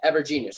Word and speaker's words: Evergenius: This website was built from Evergenius, right?